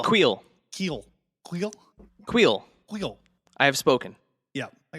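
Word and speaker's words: Kuiil: How do you pronounce the guy from Mandalorian? Oh, Queel. Queel. Keel.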